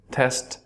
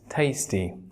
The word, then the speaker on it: tasty: দুটো একইভাবে উচ্চারণ করবেন, টেস্ট টেস্ট, টেস্ট, টেস্ট। And the final one is tasty, like the mangoes are so tasty. আমরা অনেক ক্ষেত্রে টেস্টি বলি, টেস্টি হচ্ছে না, tasty.